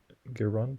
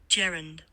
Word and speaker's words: gerund: Is it Gironde or Gironde? I'm not even sure. I know what it means, but I don't know how to say it. Gerund. Gerund. I had it very wrong.